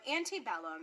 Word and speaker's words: antebellum: our ecclesiastical pronunciation but we're just going to say it using the anglicized pronunciation since that is how you'll hear it so antebellum and it means before